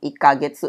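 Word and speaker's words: 一ヶ月: gitu Jadi kalau dilihat Itu ada kayak katakan aki kecil di bawah ya di bawah angka satunya itu ikaget se gitu itu bacanya k ya bukan kek ya selama sebulan jadi selama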